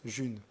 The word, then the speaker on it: Ğ1: le mets à 5 juin la monnaie s'appelle j'ai un jus ça se prononce jeune je mets un stylo